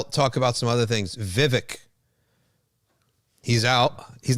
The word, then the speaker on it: Vivek: Any name with two V's that's short, it's two syllables, right? It's going to be a cool name. And he's got a strong, hard letter at the end.